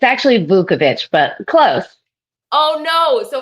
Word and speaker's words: Vukovich: Did I pronounce that correctly? It's actually Vukovich, but close.